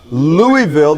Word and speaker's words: Louisville: But I do want you to hear Louisville, the team he's currently coaching as of right now, played today.